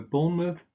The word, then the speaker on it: Bournemouth: Again, you just pronounce a schwa here, an sound, rather than mouth. So Bournemouth, Plymouth, Sidmouth.